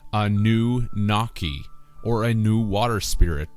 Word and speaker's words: Anunnaki: Anunnaki is phonetically Anu-Naki, or a new water